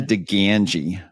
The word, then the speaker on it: DiGangi: Julia dangi and that's pronounced with a full out Chicago Accent on the Gangi part by the way um